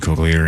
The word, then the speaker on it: cochlear: You need cochlear implants. Is that how you say it? Hello. Yeah. Cochlear. I think it's a hard CH.